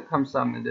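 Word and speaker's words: 감사합니다: পাশের ব্যক্তি কি করছে খামসা হামনিদা দিয়েছে খামসা হামনিদা এখানে হামনিদা হবে কেন বিয়ব নিচে থাকলে এরপরে নিয়ন আসলে বিয়ব নিচে থাকলে এরপর নিয়ন আসলে বিয়বটা ময়ের মতন উচ্চার হবে এই জন্য খামসা হামনিদা মানে ধন্যবাদ আর এরপর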